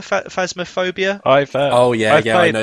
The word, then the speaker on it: Phasmophobia: don't know how to say this is it phasma gobia phasmophobia oh yeah yeah i know that one have